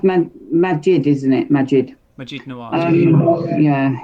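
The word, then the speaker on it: Maajid: I'm shocked about it as well, mate, because someone, before you carry on, it's pronounced Majid, isn't it?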